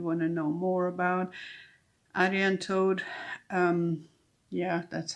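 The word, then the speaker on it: Arianrhod: to that you want to know more about Aran toad um yeah that's how you pronounce it um I've had on good authority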